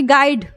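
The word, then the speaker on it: guide: हमने एग्जांपल लिखा है कहीं पर भी हमने जो है यू का उच्चारण हमने नहीं किया जैसे कह रहा है कि गाइड गाइड आप लोग को पता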